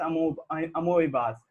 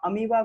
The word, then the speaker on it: amoeba: हमारे श्वेत रक्त कणिका ऐसी कुछ दिखाई देते हैं, लिखा हुआ before they just look like a shapeless अमोइबास। अमोइबा मतलब अमीबा को इंग्लिश में स्पेलिंग जो है वो ऐसे लिखी जाती है, अमोइबा।